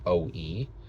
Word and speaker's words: Oou: It's OOU, spelled OOU, and pronounced OE.